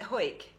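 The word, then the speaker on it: Hawick: i did up in do you pronounce it hoyt yeah up in the borders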